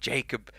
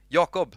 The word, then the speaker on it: Jakob: a little look shall we let's see what jacob jake now i'm saying my